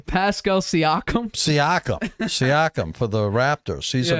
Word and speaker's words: Siakam: Sakanam or Saikim, or how do you pronounce his name? Pascal Siakam. Siakam for the Raptors.